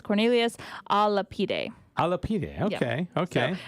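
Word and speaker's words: Cornelius a Lapide: By the way, Adrian did send me the pronunciation of the gentleman. It's Cornelius Alapide.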